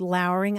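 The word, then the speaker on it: lowring: makes sense because um what you would see in writing is l o w r iing and that word is usually pronounced lowering I always pronounced it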